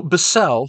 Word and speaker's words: Bissel: Ragnar so bisel or I've also heard it pronounced Bissell um like the vacuum cleaner either way as far